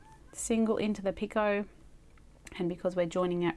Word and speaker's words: picot: another single in the picot. Picot. When I first started, I did think it was picot. That also sounds fancy if you say it like that.